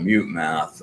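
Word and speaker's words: Mutemath: by a band called Mute Math. And that is really uh one of my favorite practice songs. Um, so just mute math just like it's spelled.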